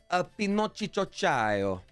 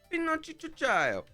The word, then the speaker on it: Pinocchio: The proper pronunciation is Pinocchio. Pinocchio.